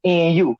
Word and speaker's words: Nu: Like, for instance, like my name, Nu, N-U. We just say Nu.